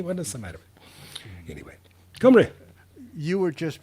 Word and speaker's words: Cymru: Cymru. It's pronounced Cymru. Come very. Yeah. And that's the Welsh word for Wales.